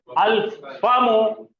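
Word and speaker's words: الفم: यहां आ जाइए, बढ़िए, अल फामो, माउथ, तो फा में तो जबान की नोक इस्तेमाल नहीं हो रही, तो डबलिंग नहीं होंगी।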